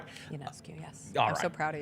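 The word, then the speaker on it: Ionescu: Yanescu.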